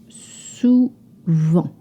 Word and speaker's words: souvent: Often, souvent. Souvent. It is spelled with a T. You do not pronounce this T. Souvent. En. To make the sound en, you open your mouth slightly. Souvent.